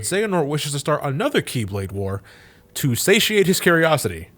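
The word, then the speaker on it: χ-blade: For the record, that's spelled Keyblade, this X being the symbol for Chi, or Ki as it could be pronounced, hence Keyblade.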